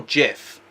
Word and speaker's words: GIF: gets takes the cake is it pronounced gif or jiff i say gif because jiff would imply